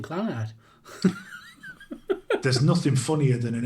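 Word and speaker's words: Clannad: First option means emphasis on the nad, and the second option would be emphasis on the cla or clan. It's difficult to type. I think we've got a rough idea anyway. But I've always called him Clanad.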